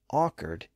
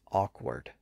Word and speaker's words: awkward: they were spelled so today we generally pronounce it with its original pronunciation as awkward to a certain extent